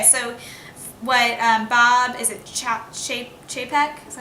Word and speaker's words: Chapek: Okay, so what Bob, is it Chapek? Is that how you say it? Yeah. Chapek, he's the chairman of the Parks and Resorts.